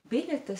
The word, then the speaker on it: biļetes: Biļetes sounds very fast, doesn't it? You hardly hear the vowels, biļetes.